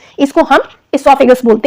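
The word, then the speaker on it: oesophagus: pipe है इसको हम इसोफागस बोलते हैं अच्छी लैंग्वेज में ओ साइलेंट होता है इसमें ठीक है तो उसको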